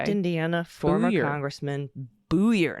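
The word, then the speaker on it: Buyer: For a correction, the correct Indiana former Congressman's Byer last name is pronounced Booyer. Got it. Corrupt Okay. Indiana former Booyer. Congressman Booyer, not Byer.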